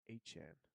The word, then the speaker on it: Etienne: I heard him in an interview say it's Achan. That's how you pronounce Achan.